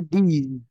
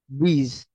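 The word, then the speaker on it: these: তারপরে হচ্ছে এই যে যখন এটা প্লুরাল হয়ে যাচ্ছে তখন এই উচ্চারণটা হবে দিজ। কি হবে? এই যে বর্গীয় জ, দিজ।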